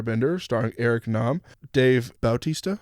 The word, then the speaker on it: Bautista: starring Eric Nam, Dave Bautista. Is that how you say it? I think so. Bautista. I didn't want you coming after me again. Yeah. What did you say last night? Bautista. Batista. Yeah, Batista.